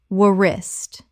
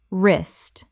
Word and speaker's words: wrist: comb comb Word 195 wrist Common mispronunciation wuh-rist Correct pronunciation wrist The W is completely silent. One syllable only.